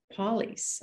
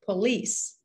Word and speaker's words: police: you number four police i've heard many people saying polly's i'm gonna call the police it's the police police and therefore we